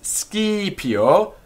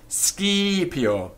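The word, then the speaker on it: scipio: it's masculine h-i-c and the word is ski pio s c i p i o ski pio it has a long first i skip the accusative hunk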